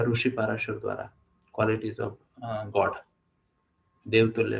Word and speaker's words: पराशर: स्मृति में लिखा गया है, महर्षि या ऋषि पाराशर द्वारा, क्वालिटीज ऑफ गॉड, देवतुल्य लोगों की क्वालिटीज। ओके, पराशर या पाराशर, पराशर। ओके, तो हम क्या करते हैं, गीता मैम को एक बार प्रोनाउंस करने का मौका देते हैं।